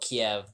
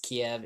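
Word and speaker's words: Kyiv: It used to be called Kiev, but then apparently how Ukrainians pronounce Kiev is Kiev. Russians pronounce Kiev.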